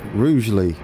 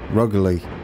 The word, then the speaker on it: Rugeley: that yellow as I learn how to pronounce Rugeley because I would have called it ruggedly like everybody else all right we've got